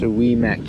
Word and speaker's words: Ouimet: This whole time we thought it was called Ouimet Canyon, but after reading this, it says it's pronounced Ouimet Canyon.